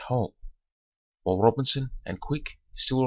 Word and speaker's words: Woods Hole: Woods Hole has been converted into Woods Hole, though still pronounced Hull, while Robinson and Quick still remain holes.